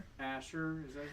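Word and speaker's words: Ascher: A A Asher. Asher.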